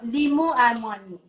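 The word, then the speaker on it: لیمو عمانی: Limu amoni. How do you say it? Limu is lime. Yeah. Amoni is dried, essentially. Lim amoni. So you're going to add the lim amoni. Yeah. Limu amoni.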